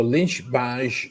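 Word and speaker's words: Lynch-Bages: So Lynch Baj is actually Lynch is an Irish family that moved to the Baj region region along the the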